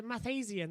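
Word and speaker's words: Mathiasen: the uh pri uh motorsports uh with a math asian that's how you pronounce it yeah it's mathasian it's uh the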